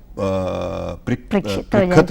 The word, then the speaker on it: परीक्षित: नाम बहुत मुश्किल है परीक्षित, ये तो बड़ा मतलब सारे हिंदुस्तान में इसके अलग अलग प्रोनाउंसिएशंस होते हैं। पंजाब में से प्रिखत कहते हैं और बंगाल में पोरीखीत कहते हैं।